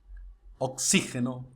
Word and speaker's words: oxígeno: atmósfera, fútbol, gaucho, límite, oxígeno, régimen. Viu que a sílaba tônica é diferente de como se pronunciaria essa palavra em português?